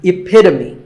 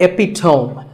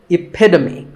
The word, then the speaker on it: epitome: This word means a perfect example of something, and the perfect pronunciation of that is epitome. It's not epitome. Once again, epitome.